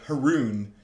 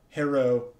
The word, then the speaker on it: Heroon: is known as the Heroon. That's how you say this word. The little, like, the dots above the O mean you pronounce it as two syllables, right? So instead of Heroon, it's like Heroon.